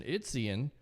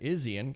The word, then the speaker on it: Izien: Surprisingly, Christian Izien, or Christian Izzy Ann, as we've had him on the show, mispronounced his name, has 100 tackle 111